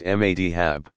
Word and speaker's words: madhab: Students in a madrasa, pronounced madrasa, pursue a curriculum built around the teaching of one of the legal methodologies, madhabs, pronounced madhab, and eventually receive credentials, a kind of license, as professional religious scholars.